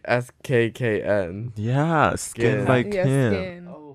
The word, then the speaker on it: SKKN: oh, it's like spelled like SKKN. Yeah, Skin by Yeah, Kim.